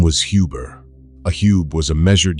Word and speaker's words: Huber: That oo has no English equivalent. Say Huber in German and an English-speaking clerk hears something he cannot spell, so he writes what his ear gives him, Hoover, sometimes Huber, sometimes Huber still.